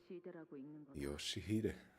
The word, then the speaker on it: Yoshihide: No, that's not how you read those letters. Yoshihide. That's how you say it.